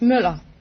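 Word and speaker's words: Møller: No, it's Moller. It's what? Moller. How do you spell it? M-U-L-L-E-R. M-U-L-L-E-R. What kind of a letter is It's Ö. It's an O with a line through. Oh. It's pronounced Ö. Well, yourself.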